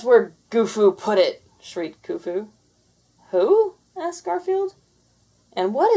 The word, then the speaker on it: Khufu: of going now that katfu has been returned to his master i've got to get back before my master has a fit it is done pronounced kufu and with a wave